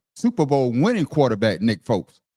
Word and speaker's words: Foles: Super Bowl winning quarterback Nick Foles. Make sure you say it right.